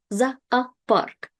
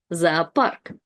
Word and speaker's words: зоопарк: That means the zoo, and you can see you have 2 O's, and they both are unstressed. So we pronounce both of them as A, zoopark, zoopark, the zoo.